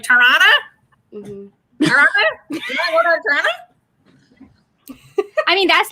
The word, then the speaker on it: Toronto: how you cities say toronto right like you should pronounce the t's that are there and we're just like toronto i mean that's like